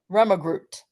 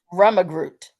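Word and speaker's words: rømmegrøt: Fruit preserves, honey, a hot cereal, which let me get this pronunciation. Rummagroot. Say it again. Rummagroot.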